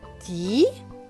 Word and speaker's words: dit: Dit, le T à la fin est écrit en gris, donc il ne se prononce pas.